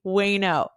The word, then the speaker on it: Uyeno: Yes, my husband is Japanese and my new last name, Wayno, looks like Uyeno, but easy way to remember it is like no way, Wayno.